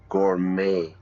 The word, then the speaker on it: gourmet: I went to the ballet and then we went to the gourmet restaurant. Yeah, we don't pronounce the T.